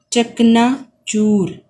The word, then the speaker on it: چکنا چور: تلفظ بھی بنیں گے۔ چکنا چور، چے زبر کاف ساکن، نون زبر الف، چکنا، چے پیش واو رے چور، واو کے اوپر کچھ نہیں آئے گا کیونکہ آواز جاری ہے، چکنا چور، رے کے اوپر ساکن